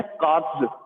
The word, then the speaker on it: Katz: ठीक है, 1944 में आई थी और एलिहू कार्ब्स, जो ये प्रोनाउंसिएशन है, इसका प्रोनाउंसिएशन है कार्ब्स, KATZ कार्ब्स, Elihu कार्ब्स, इन the year 1944।